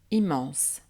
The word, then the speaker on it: immense: confirme toujours la règle une voyelle devant une double consonne mm ou n n n'est pas nasale exemple immense dont les syllabes son hymne man se est se prononce ainsi immense de même pour inné